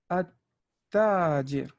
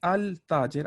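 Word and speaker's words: التاجر: But here at tajir, I'm not saying al tajir. I'm not saying that. I'm going right. I'm skipping the whole lam, going all the way to the ta. At tajir.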